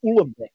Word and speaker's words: Uhlenbeck: Goudsmit and Uhlenbeck.